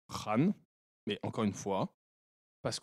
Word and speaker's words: Khan: À la base, ça se prononce Khan, mais encore une fois, parce qu'on veut pas paraître raciste, même si on n'a rien contre les racistes.